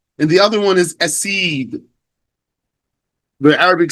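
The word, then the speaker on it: أَسِيد: That's what's meant by spelled the same here, but pronounced differently because we have a dhamma on the first letter for the first word and a hamza on the first letter of the second word.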